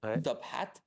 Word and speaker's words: Top Hat: Mais nous avons Top Hat en ce moment, prononcez bien le H aspiré, Top Hat, qui est une comédie musicale de Yvonne Berling et qui ravit le public.